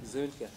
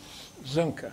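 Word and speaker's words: Soehnke: Spell it again. Zunke. Zunke.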